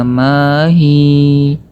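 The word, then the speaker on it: ما هي: Qalu ud'u lana rabbaka yubayyin lana ma hi. Hi-nya kita baca panjang. Mahi dengan kadar satu alif atau dua harokat.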